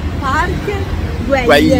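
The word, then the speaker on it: Park Güell: The real pronunciation... I forgot it. Is Park Guell. Guell.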